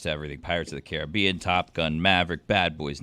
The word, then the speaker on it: Caribbean: How do you pronounce it? Caribbean or Caribbean? When it's Royal Caribbean. When it's Pirates of the Caribbean. Pronounce it the correct way, Caribbean.